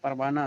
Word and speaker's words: پروانہ: ہائے مختفی جو لکھی جاتی ہے لیکن نہیں پڑھی جاتی ہے جیسے پروانہ سلطانہ.